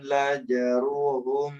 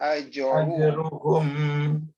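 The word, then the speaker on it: أجرهم: Ulaika lahum lajruhum inda rabbihim. Lahum apa? Ulaika lahum kok lajruhum aj. Alif kan ajruhum inda rabbihim. Ajruhum. Ya. Innallah. Ajruhum. Bukan lajruhum. Tadi Bapak bacanya laj.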